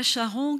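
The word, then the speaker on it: Charon: qui s'appelle rita charron je le prononce à la française rita chars ans qui a inventé initié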